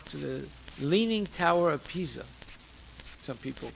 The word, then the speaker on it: Pisa: it up right now pisa is spelled p-i-s-a not p-i-z-z-a it's not leaning tower pizza because everything is not pizza in italy so then uh it